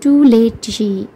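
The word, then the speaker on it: Toolache: label out loud the tul a Wabi pronounced Tuli Tuli was a native of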